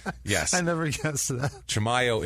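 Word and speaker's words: Chimayó: Chamayo is the way you pronounce it cuz I listen to newscast to make sure.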